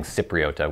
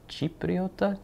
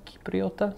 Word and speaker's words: Cipriota: I was saying Cipriota, which I should have known. Yeah, if there's a C at the beginning of a word in Italian, it's Cipriota, Cipriota, something like that.